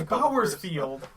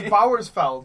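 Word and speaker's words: Bauersfeld: I'm not gonna even attempt, I'm sorry guys, to repronounce It's Bowersfield. Oh, there's no I! It's Bowersfeld. Sorry. Bowersfeld. Bowersfield. I looked at it quick, so I thought it said Bowersfield.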